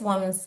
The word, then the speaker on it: women: basement, restaurant also at the basement, small appliances, women's casual, and women's shoes. I just want to check something very quickly with you. So remember that the word mujer It's spelled W-O-M-A-N, woman.